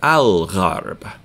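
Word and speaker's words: الغرب: So since ghain is pronounced in the back of your mouth, we're going to hear al-gharb.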